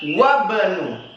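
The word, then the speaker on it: وَابْنُ: Tapi kalau di tengah kalimat wabnu, ibnunya alifnya enggak dibaca. Wabnu. Kan tulisannya wa ibnu. Wabnu Yasirin. Ya, wa ibnu Yasirin, tulisannya wa ibnu Yasirin, tapi bacanya wabnu Yasirin.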